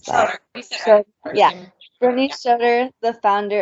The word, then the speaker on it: Schroeder: How do I pronounce that? Schroeder.